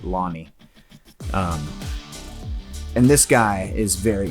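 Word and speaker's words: Lone'er: And his name is like Lone but they pronounce it Lonnie.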